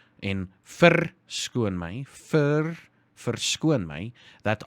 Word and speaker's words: verskoon: Remember, our R's are pronounced really clearly. Well, most of the time. Especially in the middle of a sentence or in the middle of a word, our R's are very crude and loud.